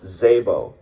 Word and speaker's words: Szabo: And she said, "It's Szabo. It's a silent S, like special, and then Z-A-B-O.